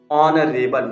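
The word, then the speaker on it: honorable: यहाँ पे ओ के पहले आया तो एच साइलेंट हो गया और ऑनरेबल हो गया। क्या हो गया, ऑनरेबल।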